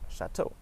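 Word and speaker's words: château: It also is pronounced like O if there's an E AU spelling like chateau.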